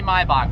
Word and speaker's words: Maybach: You guys don't like the way I pronounce Maybach? Then I'm gonna call it Maybach. Just kidding. Maybach music. It's actually Maybach, but whatever.